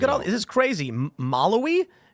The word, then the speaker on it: Malawi: Malawi? How do you say that? Malawi. There you go. See, I couldn't even pronounce that one.